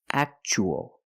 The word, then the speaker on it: actual: And the second word, we see T-U-A as a second syllable. So the T is pronounced ch-ch, actual.